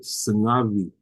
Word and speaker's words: sungavi: It's just a soft v, sungavi, sungavi, sungavi. It's a little bit of a vibration.